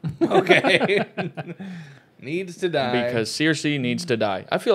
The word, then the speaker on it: Cersei: Now, Cersei Lannister.